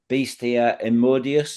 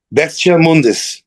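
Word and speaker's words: Bestia Immundis: I mean the last album you did in 2020 on Massacre Records, Beastia Emodius, is it? Is that how you pronounce it? Best Mundis.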